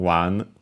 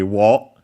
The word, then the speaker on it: を: But yes, more often than not, it's pronounced simply as o, but also as a wo, except in when in careful speech or when singing.